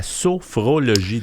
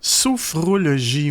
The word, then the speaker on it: sophrologie: Alors aujourd'hui, ton sujet, la sophrologie. Dur à dire. Oui, pourtant, c'est vrai qu'on s'accroche facilement dans ce mot-là. Ouais. Sophrologie, oui, ça s'écrit S-O-P-H-R-O-L-O-G-I-E.